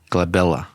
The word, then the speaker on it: glabella: space between your eyebrows is called a glaba glabella did you know that so you got this